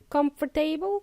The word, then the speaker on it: comfortable: So it's not pronounced as comfortable. Comfortable? No, it's comfortable.